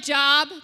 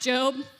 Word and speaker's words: Job: of job it kind of it looks like job but it's actually pronounced job you love the book of job i'm glad